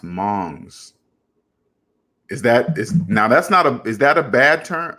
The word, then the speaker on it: Hmong: The H is silent. It's pronounced Mongs.